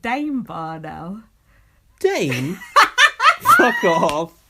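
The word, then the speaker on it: Daim: And do you know, and it used to be D-I-M-E. But it's been... D-I-M-E? Yeah. Now it's called Dame.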